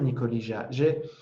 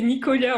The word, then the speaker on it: Nicolia: Ah, ouais, c'est une bonne question, Nicolija. Moi, j'ai beaucoup Nicolia, aimé, mais tu dis c'est Nicolia on prononce. Nicolia. Ouais. Ah ouais, Iji, moi je faisais Ija. Nicolia, merci pour la précision.